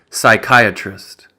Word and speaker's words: psychiatrist: Next, the silent P, which you'll find at the beginning of many words using the combinations PS, PT, and PN. And the majority of these words will start with the PS combination, and they will also most likely be some kind of medical or technical terminology. Just like the word psychiatrist, which is the person